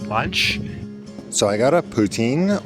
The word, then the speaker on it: poutine: So I got a poutine or as it's probably more correctly pronounced poutine. Here in Ontario we pronounce the poutine mostly.